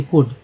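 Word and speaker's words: could: सी आई ओ एन सियोन, सी ओ यू एल डी कुड, डब्ल्यू लगा तो वुड, सी लगा तो कुड। एल के से क पढ़ा, क्यों पढ़ा गया, क्योंकि एल जो है साइलेंट है।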